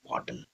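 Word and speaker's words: bottle: बोतल मत बोलना इसे। बॉटल।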